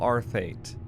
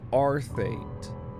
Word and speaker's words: Arthate: by famed writer Markel Arthate. Oh my god. Wait a second. I've always pronounced it as Arthate. But if you look at it, it's Art-Hate. His last name is Art-Hate.